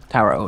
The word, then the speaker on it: tarot: Tarot is the correct pronunciation.